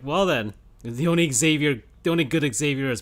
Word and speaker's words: Xavier: read some comics he's xavier they're just xavier you don't pronounce the x you pronounce the x like a z b u says zebra